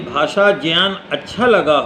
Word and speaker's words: ज्ञान: ज्ञान नहीं है, ज्ञान है। ज्ञा बनता है जा धन इया से, इसलिए इसका उच्चारण होगा ज्ञान। ग इया से नहीं बनता है, इसलिए ज्ञान कभी न कहें।